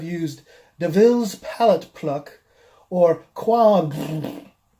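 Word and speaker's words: quomb: So basically it comes out like quab fart noise because you're trying to say all those different pronunciations of OMB at once, like womb and bomb and tomb and ohm.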